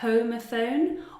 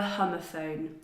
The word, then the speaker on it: homophone: It has two pronunciations. You can choose. You can call it a "homophone" or a "homophone".